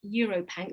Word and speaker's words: EuroPanc: Also, I think John from Essex has asked about EuroPanc. That's spelled UROPanc.